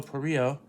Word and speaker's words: Parrillo: number four will be Lucio Paris Lucio parrillo not Perillo not Perillo I I'll I know you